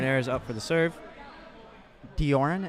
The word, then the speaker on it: Dioran: Dioran, it's pronounced?